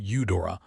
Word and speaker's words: Udora: the way he said her name, Udora, with a slight emphasis on the first syllable, as though the name itself pleased him.